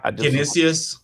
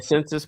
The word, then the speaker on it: Canisius: Canisius. Yeah, I was going to say Census, but I was looking at the odds.